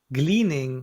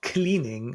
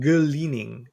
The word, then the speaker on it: gleaning: And then gleaning, not cleaning, and I might pronounce this wrong because I'm from Germany, but it's written with a G for everyone who doesn't know this, uh, is the gleaning, like gleaning. Yeah, gleaning. Yeah, not cleaning.